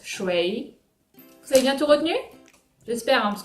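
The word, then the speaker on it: 水: peut-être mais ça veut dire l'eau ça se prononce choix c'est bientôt retenue j'espère parce que je vais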